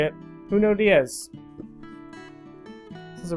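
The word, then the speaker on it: Junot Díaz: Junot Diaz.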